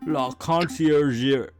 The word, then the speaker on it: La Conciergerie: She's being held at La Conciergerie. That is how you pronounce that, Sparrowson.